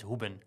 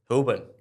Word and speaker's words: Hoeben: But the official pronunciation, how we pronounce it in Dutch is Hoeben. Hoeben.